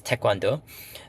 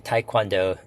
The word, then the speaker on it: taekwondo: The first is tawando. Um so it's basically martial arts. Um actually taekwondo the English pronunciation which is fine but my wife actually has a a red black belt in in taekwondo.